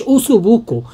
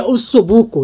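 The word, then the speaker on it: osso buco: ديت بس هي المشكله ان هي مش اوصو بوكو هي اوصو بوكو دي دي الصح ليه لان هي حتى لو تلاحظوا بصوا يا جماعه او اس اس في تشديد على الاس فهو النطق الصح للاسف اللي انا بقوله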